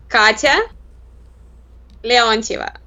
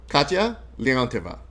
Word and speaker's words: Katya Leontyeva: right, because I know I'm used to people mispronouncing my name all the time. It's like Katya Leontyeva. Katya Leontyeva.